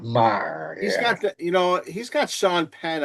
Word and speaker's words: Maher: Bill Mayer? Bill Mayer? Bill Maher. Bill Maher? Okay. So I think they pronounce it Maher.